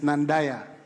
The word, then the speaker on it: Nandaya: The right pronunciation is Nandaya.